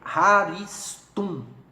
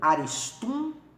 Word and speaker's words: Haristum: o nome dele é Haristum, ou Aristum, de acordo com a pronúncia, é com H que se escreve.